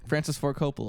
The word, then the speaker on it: Francis Ford Coppola: Francis Ford Coppola.